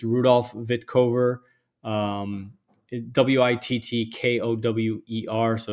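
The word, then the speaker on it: Wittkower: the past it's Rudolph vitkovar um w-i-t-t-k-o-w-e-r so it's spelled with a W but pronounced vitcover this is a fantastic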